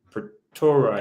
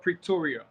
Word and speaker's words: Pretoria: Masters in developmental studies from the University of for Torah if I'm saying it correctly pretora University of Pretoria Pretoria I'm completely complete studies I just submitted